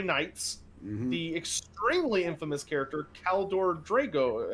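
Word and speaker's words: Kaldor Draigo: the extremely infamous character caldor drago i think if i'm pronouncing it correctly you are correct yes mary sue one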